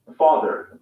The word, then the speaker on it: father: focus on two words father father car notice that the final r sound is not pronounced in british english father ends in a simple schwa vowel like father and a car